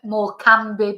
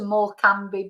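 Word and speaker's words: Morecambe: pronouncing like Lancashire and more Bay I heard one person say oh they thinking the body might have gone to more cambi Bay uh instead of Mor you know but it's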